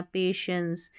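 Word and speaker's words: patience: और यह है पे, टेंस नहीं पढ़ना, पेशेंस, ENCE को एंस पढ़ते हैं, ठीक है। PA पे हो गया, TI जब रहता है ना इसको श पढ़ते हैं, तो पेशेंस हो गया, TI को श पढ़ा जाता है तो पेशेंस, धैर्य, धीरज।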